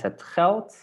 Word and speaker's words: geld: Sometimes when we have the letter D at the end of the word, then we pronounce it with the T. Not always, but often. Okay, so it's het geld.